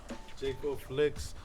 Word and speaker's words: Jei4Flix: Jei4Flix. Everywhere. Spell it, 'cause JEI, the number 4, Flix, FLIX.